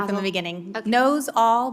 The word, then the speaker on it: Nosal: Knows all, but quickly. Nosal.